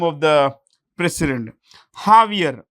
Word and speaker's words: Javier: Javier. The J is pronounced with an H. Javier Milei.